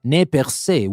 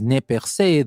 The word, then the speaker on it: Nez Perce: it is nepe well whether you pronounce it as nepersei the french pronunciation or the english one nez perce the most important thing